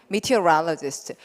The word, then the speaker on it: meteorologist: 발음 어떻게 해요? meteorologist. 요거를 이제 발음을 2번만 찍으면 훨씬 편하다고. 이거 다 외우려고 하면 되게 힘들잖아요. 근데 meteorologist 두 박자.